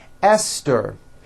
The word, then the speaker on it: Esther: spelled with a TH, they are pronounced as if they were spelled with a normal T, like that. And these words are Thomas, Thompson, Teresa, Thailand, Thames, like the river, Esther, and thyme, which is a spice.